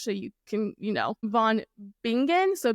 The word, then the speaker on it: von Bingen: to say this with I don't think this is how you would pronounce it in Germany but I'm going to say it in English so you can you know Von bingan so b i n